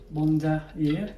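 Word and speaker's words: Bandoulière: uh keal 50 B I pronounce it Bond Bond year bond year so it's keep Bond year so it's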